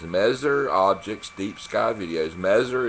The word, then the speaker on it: Messier: Messer is spelled M-E-S-S-I-E-R.